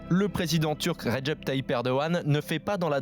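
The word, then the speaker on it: Erdoğan: débat tout de suite erdogan si vous le prononcé à la turque erdogan à la française ancien joueur de football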